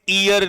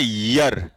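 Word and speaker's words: year: अब मैंने इसको बोला था बेटा ये ईयर नहीं होता, इसका प्रोनाउंसिएशन होता है यर।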